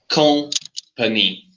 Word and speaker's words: company: Okay, for example, let's go to example number one: company. Company. Three syllables. Yeah, and the stress is in company.